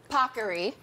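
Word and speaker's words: paccheri: This is, as the Today Show team made sure I pronounced properly, Pockery.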